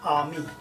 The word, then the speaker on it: আমি: In Bengali this is Aami. Aami. I think it is not very difficult to pronounce.